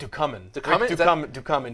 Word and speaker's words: Ducommun: Document. Ducommun.